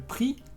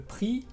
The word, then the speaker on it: prix: Y cuarta palabra, la X. Por ejemplo, en palabras como le prix, que es el precio, le prix.